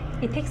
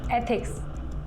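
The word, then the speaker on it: ethics: इथिक्स नहीं, एथिक्स ऐसे pronounce करो।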